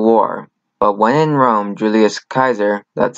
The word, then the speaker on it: Julius Caesar: But when in Rome, Julius Caesar, that's how you pronounce it, challenged the authority of his compatriot Pompey, and Pompey sought refuge in Egypt, Ptolemy XIII had him executed.